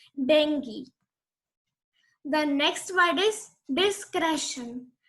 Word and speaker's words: dengue: It is not pronounced as dengue. Many of you might be pronouncing it dengue till today, but now it is not going to happen. Its correct pronunciation is dengue.